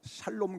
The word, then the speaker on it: 샬롬: 있습니다 옆에 계신 분하고 우리는 발음을 정확하게 해서 샬롬 그려야 되는데 자매끼리 앉아 계신 분은